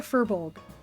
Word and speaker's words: furbolg: Yes, they are a furbolg.